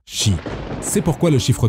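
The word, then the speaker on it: 四: vous l'ignorez peut-être mais le kanji du chiffre 4 et le kanji de la mort ont tous deux la même prononciation ils peuvent tous deux se lire chi c'est pourquoi le chiffre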